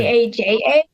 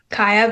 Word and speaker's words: Kaja: Kaja. Yeah. But the Y is pronounced as a J, so it's just Kaya.